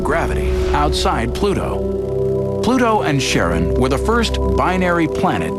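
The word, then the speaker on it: Charon: christe suggested the name Karen after the ferryman of Pluto's underworld in Greek mythology but preferred to pronounce it Sharon more like his wife's name Charlene from the Motions of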